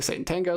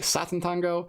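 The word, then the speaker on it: Sátántangó: differently some people say sat Tango some people say Satan Tango some people say shatan Tango because apparently in hungar in Hungary in Hungarian you pronounce the s's with like an H so I think Shango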